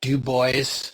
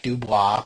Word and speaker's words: Dubois: We were in a town called Dubo, spelled like Dubois, but it's Dubo, Wyoming, on July 4th.